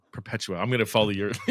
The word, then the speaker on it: Perpetua: How'd you pronounce her name? Perpetua. Perpetua.